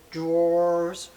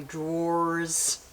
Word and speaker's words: drawer: I try to pronounce my drawers a little bit better. You see the effort? Someone in the comments say, you know you just do door and you put a D in between, like drawer.